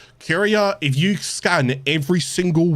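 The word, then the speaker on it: Kuria: this pipe here you will see there's a curier so it's spelled k u r i a curier curia if you scan every single one of these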